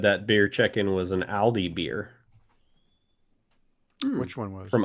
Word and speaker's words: Aldi: They're making Not Audi like the car company, no, no, Aldi no, like the grocery Aldi store. like the yeah that's Aldi. Yeah, I should pronounce it more correctly.